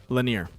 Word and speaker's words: Lanier: Can you pronounce the name of the track again, please? Yeah, it's Lanier.